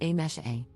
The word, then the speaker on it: Amse: For context, my name is written as amse but is pronounced as a mesh a.